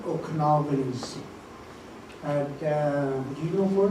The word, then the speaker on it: Okanagan: And the reality of that word, it comes from the Syilx word Okanagan. And the mispronunciation by the people that couldn't pronounce our words like we do, coming through our territory, couldn't say Okanagan that well, and they say Okanagan.